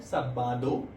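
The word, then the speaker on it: sábado: ठीक है, सैटरडे को हम लोग बोलते हैं साबादो. इसमें हमेशा जैसे ए को हम लोग बोलते हैं आ. ठीक है, तो वैसे हमने इसकी प्रोनाउंसिएशन देनी है सा बा दो.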